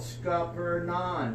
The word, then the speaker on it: Scuppernong: You just cover up the G, which is silent, and you just pronounce it as it's spelled, Scuppernong.